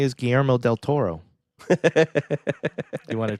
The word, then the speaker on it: Guillermo: It's not Guillermo, it's Guillermo. Guillermo. There you go. You're just trying to Guillermo. roll your R and you end up making an L sound.